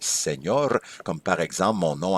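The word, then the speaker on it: señor: quand je dis SEOR si j'avais pas le ti sur le N faudrait prononcer senor mais en réalité un monsieur donc c'est SEOR comme par exemple mon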